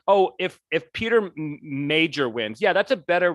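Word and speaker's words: Meijer: guy peter i think his name is major but it's smell it's spelled like m-e-i-j-a-r i don't know it's uh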